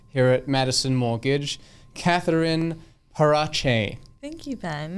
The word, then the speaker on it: Parache: everyone's favorite co-worker here at madison mortgage catherine parache thank you ben how is my pronunciation it's perfect you're lying okay but but